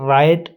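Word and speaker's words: write: इसी तरह राइट है हमारे पास डब्ल्यू आर आई ई राइट तो राइट का डब्ल्यू है जो यह भी साइलेंट ही रहेगा।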